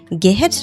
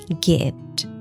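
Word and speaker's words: geht: গেট দেখেন এখানে আবার হাটা মাঝখানে আছে এবং তার আগে একটা ভাল আছে সো এখানে আমরা হাটাকে একটু টেনে পড়ব গেহেট না বলে গেহট না বলে আমরা বলব গেট টিম গেট সুডমান হাট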